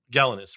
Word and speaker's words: Gelinas: giving up Carson and how'd you pronounce his name? Is it Gelinas? Gelanos. Gelinas, right?